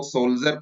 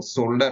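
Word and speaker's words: shoulder: तो बहुत लोग इसको शोल्डर को सोल्जर पढ़ते हैं, जो कि गलत है। इसका जो सही उच्चारण होता है वो शोल्डर होता है ना।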